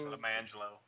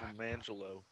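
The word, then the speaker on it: Lemonjello: It's spelled lemon jello, but it's pronounced Lamangelo. Actually pronounced Lamangelo.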